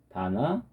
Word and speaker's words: 바나듐: 바나늄. 바나듐입니다. 바나듐. 자, 이 V는 B죠, B.